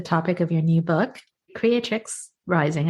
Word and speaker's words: Creatrix: of your new book creatrix Rising I'm sorry I keep on saying pronouncing it wrong but it's creatrix right creatic right yes and it's called unlocking